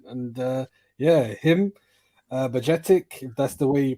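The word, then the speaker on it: Bajčetić: guy is confident and uh yeah him uh budgetic that's the way you pronounce it and Carvalho Cavalli obviously looked uh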